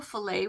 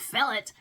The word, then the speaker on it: filet: wetted filet crochet cresendo filet wrap now I'm saying filet somebody might be out there going it's called fillet in my world filet is a French word and you don't pronounce the T so if I'm wrong